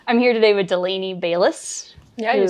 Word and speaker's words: Bayles: last name so yeah it's bis not Bales so we've already gotten